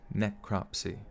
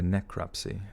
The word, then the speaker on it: necropsy: for a new crop necropsy net crop see three syllables okay and the body was taken to the University of Connecticut for a necropsy god I sounded like